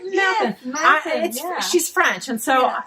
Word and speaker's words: Mathon: Did I pronounce it right? Yes, Mathon, yeah.